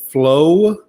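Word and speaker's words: Flowe: going to Arizona Justin flow I think is how you pronounce his last name it's f-l-o-w-e there's an e on it but I still think it's flow um is how you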